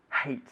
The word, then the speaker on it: hate: Be careful with your pronunciation, everybody at home as well, of the verb hate. We say hate, okay? Aspirando aire, okay? Just as if you were cleaning some glasses or a mirror.